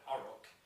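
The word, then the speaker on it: Orruk: One thing I'll touch on now, I think they've written the word Oruk, and they intended to just pronounce it quickly. Oruk. Just sounds like someone from the West Country saying orc almost.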